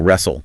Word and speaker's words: wrestle: Whistle, wrestle, thistle, hustle, bustle, nestle, apostle.